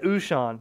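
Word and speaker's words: Wouxun: and I say it Oh Sean wo u X u n ocean whoo Sean but someone's correcting you before that's what the manufacturer said it's pronounced oh Sean with a oh I guess that uh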